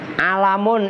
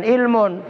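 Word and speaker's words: عَلَمٌ: Alamun itu sebagai nama alam, bukan ilmun.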